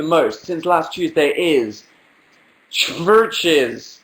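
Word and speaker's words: CHVRCHES: since last Tuesday is churches which is churches with a V churches spelled with a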